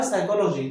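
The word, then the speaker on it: psychology: तो वो पीएस व उसमें साइलेंट हो जाता है। वो होता है साइकोलॉजी।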